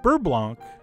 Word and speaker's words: beurre blanc: to your own tastes but anyway that's it bur Blanc or bur Blan if you prefer no matter how you pronounce it I really do hope you give